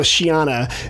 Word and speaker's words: Sheana: anyone's about s-h-a-w-n-a and might as well just spell it out so Shiana is how it's kind of like and if